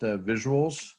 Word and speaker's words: VisuALS: our name is visuals we capitalize the als because as you'll learn that comes in our history uh but it's just pronounced visuals generally and our agenda for